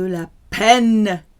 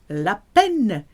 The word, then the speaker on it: la peine: Faire de la peine à quelqu'un. You've got a picture of a pen because that's how you pronounce la peine.